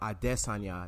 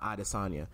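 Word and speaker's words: Adesanya: how they pronounce it for example the fighter Israel ID s Tania not Ida Sanya but we Americanized things so I'm gonna let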